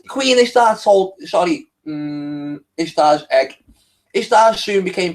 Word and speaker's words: Ishtar: Semiramis became known as Ishtar, okay, which is pronounced Easter, and her moon egg become known as Ishtar's egg.